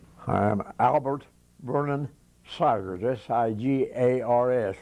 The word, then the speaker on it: Sigars: I'm Albert Vernon sagres siga rs rhymes with Tigers and I'll be 96